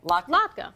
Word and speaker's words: latke: Latke.